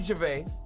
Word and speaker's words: Gervais: It's only Ricky Gervais. Ricky Gervais. It's not a silent S. You can pronounce it.